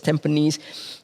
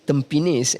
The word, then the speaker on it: Tampines: place, then like Tampines, and then it gets mispronounced as Tampines. If I told you that Tampines is the name of a grass that grows near the beaches, all this is lost when you mispronounce it as Tampines.